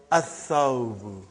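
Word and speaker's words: الثَّوْبُ: Athawbu.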